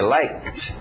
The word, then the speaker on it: liked: O passado, som de T, escrito ED, mas som de T. Liked.